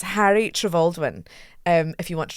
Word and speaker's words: Trevaldwyn: Um, but it is pronounced Travaldwin.